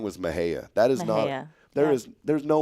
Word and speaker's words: Mexia: If you looked, what on God's earth would you think it was pronounced Mexia, Mexia? There's no way. No, I wouldn't pronounce it. I might say Mejia. But no, it's Mejia.